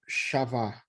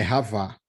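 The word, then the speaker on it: חַוָּה: Se você vê aí que está escrito Shavá, como se fosse o C cedilha, o X, mas a pronúncia é com R.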